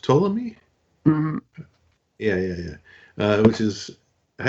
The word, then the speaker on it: Ptolemy: But that one, and then third one, I'm gonna say is it pronounced Ptolemy?